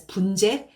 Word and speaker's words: 분재: Like I really wanted to talk about I really wanted to pronounce it as 분재, not bonsai.